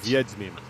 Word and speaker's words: Wiedźmin: Wiedźmin. Was it with the M? Nope, it's with a W, which is pronounced like yeah, a V.